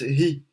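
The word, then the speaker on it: היא: c'est-à-dire he vav aleph, mais on le prononce hi.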